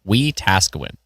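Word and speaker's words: Wetaskiwin: Oh, I got to really emphasize the task. We Tasawin uh Watasuin.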